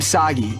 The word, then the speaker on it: Soggy: But I'm soggy. Rhymes with Saki.